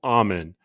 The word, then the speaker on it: Amen: name of dr daniel amen i say that spell that for you a-m-e-n like amen at the end of a prayer which you should pray